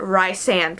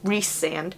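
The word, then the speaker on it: Rhysand: throughout the whole first book I've been I've pronounced it rice and which it's spelled rhy ass you know either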